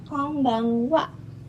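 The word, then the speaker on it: こんばんは: Jadi bahasa Jepang hanya ada huruf N, tapi pengucapannya eng gitu. Kadang-kadang bisa seperti M kedengarannya di kuping kita, kadang-kadang seperti eng, kadang-kadang N juga. Nah, untuk case konbanwa ini lebih mirip N depannya seperti M, konbanwa.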